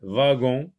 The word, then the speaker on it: wagon: Donc, s'appelle le wagon ou bien le wagon. Le wagon. W ici se lit v, wagon. On dit un wagon-lit, wagon. Et ça peut se lire aussi wagon.